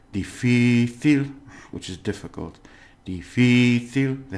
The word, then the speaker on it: difícil: It's difícil, difícil, because if it ends in L, it should be on the last syllable.